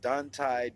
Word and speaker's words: Dontae: And if you need to know my name, it's pronounced Dontae, Dontae, as in Taekwondo, the Thai part, Dontae.